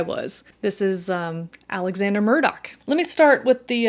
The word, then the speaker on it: Murdaugh: of his name so I got a little bit of heat from people letting me know that I was saying it wrong it's Murdoch it's Alex Murdoch baby I was just